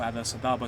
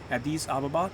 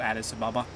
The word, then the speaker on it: Addis Ababa: long as we control Addis Ababa. I think that's how it's actually pronounced, not Addis Ababa.